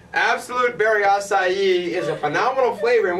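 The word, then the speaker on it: açaí: And let me ask you this: how do you pronounce that word right there? Acai. Okay, you're hired. You've done it right.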